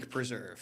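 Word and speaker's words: Huyck Preserve: This is the Hike Hike. Preserve.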